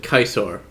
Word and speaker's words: Caesar: although I do like how they pronounce it kaisar because that's apparently how it used to be pronounced and it just sounds